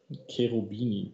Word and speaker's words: Cherubini: Cherubini, the correct pronunciation.